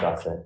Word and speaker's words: Grasset: Gracie, Your Honor. Is it GA or? G. It's pronounced Gossett.